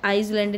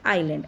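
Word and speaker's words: island: जो हमारे द्वीपसमूह है आप इसको भी इस लैंड आईसलैंड भी बढ़ेंगे आप इसको बनाइए आयल अंडमान निकोबार आईलैंड ऐसे में साइलेंट ठीक है आपको ध्यान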